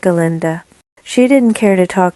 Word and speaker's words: Galinda: It is Galinda, the proper old Gillicanines pronunciation, if you don't mind.